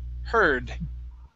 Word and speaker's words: heard: Next is, and last one, instead of HUD, this is HER. Heard.